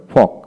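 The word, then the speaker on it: folk: M home home তারপরে ফক ফক এফ ও এল কে ফক ফক তারপর আসে উড উড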